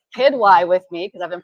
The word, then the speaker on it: Quidwai: Sabba, and I'm going to say it right, Quidwai with me, because I've been pronouncing it wrong this whole time.